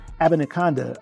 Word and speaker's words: Abanikanda: Aban Abanikanda I said it right the first time then I messed it up the second time. Israel Abanikanda, I I think you're going to see him either on a practice squad.